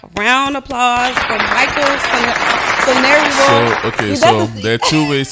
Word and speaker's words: Sonariwo: But then I'm Yoruba, so if you're not saying it's like SONARIWO. SONARIWO.